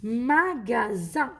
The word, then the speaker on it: magasin: magasin قلنا لو اس quand il est entre deux voyelles تنطق زد. donc magasin.